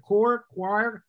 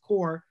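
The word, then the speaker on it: coir: never pronounce the word cor c-o-i-r which is the name of the twine i can never pronounce it right i think it's pronounced core which is made from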